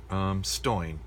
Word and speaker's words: Stoin: Another KPA here, and then Steno, Stoin is the way that you would pronounce that in pseudo steno. So S-T-O-I-N.